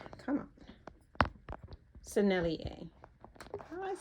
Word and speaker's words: Sennelier: Sennelier.